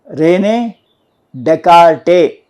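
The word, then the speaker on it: René Descartes: Rene Descartes. Your S is silent. Don't use the word S here.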